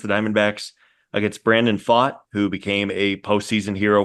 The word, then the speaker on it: Pfaadt: last name again uh it's fought like I fought the guy down the street gotcha yeah fought um